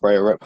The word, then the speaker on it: Brayerip: It's myself and Breyer IP. Did I pronounce it right? I say it Breyer Rip, but say it however, Okay.